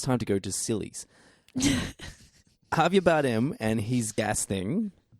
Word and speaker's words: Javier: again, the tone that Javert. How do you say his name? Javert? No, what's the... Who are you talking about? No. Javier.